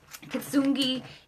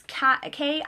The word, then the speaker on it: Kintsugi: Kitsungi is Kintsugi.